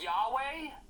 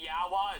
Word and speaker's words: Yahweh: christianic message yeah I'm pretty sure it's pronounced Yahweh oh crazy wow the only person I know who would say yahwah is Kirk Hammett to see if the